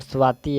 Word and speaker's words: स्वाति: लोग सही प्रोनाउंसिएशन करेंगे, और ये जो स्वाति होगा यहाँ पर स्वाति ऐसे होगा स्वाति, तो ऑप्शन सी हो जाएगा।